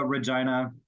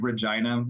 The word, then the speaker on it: Regina: So as most people know, Regina is of Latin origin and it means queen.